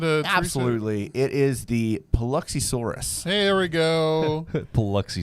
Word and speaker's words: Paluxysaurus: are they talking about um chad can you pronounce that that dinosaur name that uh absolutely it is the paluxysaurus hey there we go plucky swords it's actually